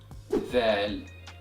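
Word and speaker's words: ذال: And the sound of the letter zal is equivalent to the letter th in English, as in the word the or the word other. And this letter is pronounced by passing the tip of your tongue through the upper and lower teeth, then powerfully pronounce it as you exhale.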